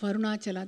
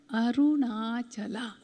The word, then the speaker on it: Arunachala: What are the 5 syllables? Arunachala.